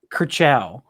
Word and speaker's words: Kershaw: Is it Kershaw? Kershaw. Like in Cars.